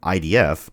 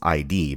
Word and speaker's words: id: I often hear people pronounce ID as ID, but that's not correct. It's ID and rhymes with did.